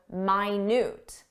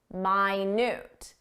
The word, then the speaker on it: minute: Minute is our time reference, 60 seconds. You know how to pronounce that, minute. But there's an adjective, minute. Minute. Minute means very small.